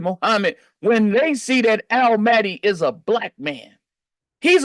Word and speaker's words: Mahdi: Mahdi is Lamonti, that rhymes, and Almighty.